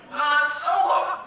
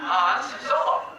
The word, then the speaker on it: Han Solo: Han Solo. Were you saying Hans? Yeah, Hans Solo.